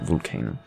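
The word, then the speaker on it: Vulcano: can't whatever that 1987 album by vulcan volcano i think yeah that's how you pronounce it volcano um that was if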